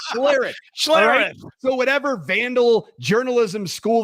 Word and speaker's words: Schlereth: former vandals last name you keep calling him schler it's Mar schare so whatever Vandal journalism